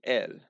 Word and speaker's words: él: If you want to talk about him, you'd say él. No, the accent, without an accent, it just means the. But with an accent, it means él. Pronounced the same.